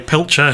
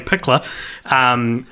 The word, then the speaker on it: Pickler: story I told about who I pronounced as Joey Pilcher, whose name's actually Joey Pickler.